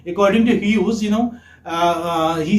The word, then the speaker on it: Hughes: Okay, say this is, you may say Hughes. This is how it is. This is the pronunciation. Okay, Hughes.